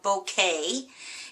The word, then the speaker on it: Bokeh: with a technique called bouquet it's b o k h and it's pronounced like a bouquet of flowers and it's actually a